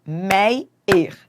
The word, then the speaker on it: Meyer: Qual é a sílaba forte? É o E. Meyer, né? Então, ela é paroxítona, mei.